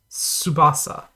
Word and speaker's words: Tsubasa: how to pronounce this you're basically like making a guttural tea but you're not actually pronouncing it so it's like subasa like that kind of